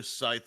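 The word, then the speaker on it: Sithe: Scythe was the correct pronunciation.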